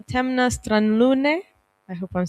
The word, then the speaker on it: Temna stran Lune: And together we've been creating a podcast called Temna stran Lune, perfect pronunciation, in Slovenian language.